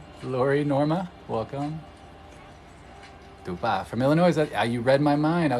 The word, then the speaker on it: Illinois: The S is silent when pronounced by the local. I know. You sure? Are you sure? It's not Illinois?